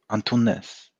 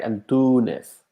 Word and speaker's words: Antunes: Antunes. Antunes. On which channel do you watch us? Yeah. The accent is where we actually put the emphasis on the word. So it's like Antunes, right?